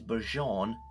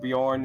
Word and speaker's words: Bjorn: This is Bjon the fellhanded. Or you mean? Yeah. Look at him. He's like a mech. Also, Ed, isn't that pronounced Bjorn? is like the J silent.